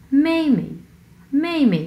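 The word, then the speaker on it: 妹妹: হ্যাঁ প্রথম অংশটা হচ্ছে 4 নাম্বার টোন, সো মেই মেই, এবং পরের অংশ হচ্ছে কোনো টোন নেই, সো আমরা উচ্চারণ করব একবারে খুবই মানে ধরেই ছেড়ে দেবো।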